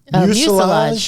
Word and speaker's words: mucilage: Help me with the pronunciation, Stacy. Mucilage? Mucilage, yeah. Mucilage. Mucus. It's mucilage. It's not mucus.